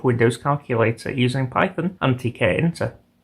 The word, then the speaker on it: Tkinter: calculator using Python and TK enter or Ginter I think it's pronounced I wasn't expecting much